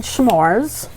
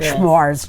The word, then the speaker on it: s'mores: most people pronounce it s'mores, not schmores. Germans say schmores. We get the SH in there. So it's just s'mores.